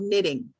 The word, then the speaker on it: knitting: knit something for somebody this is called knitting okay there's no k it's just n knitting and this is a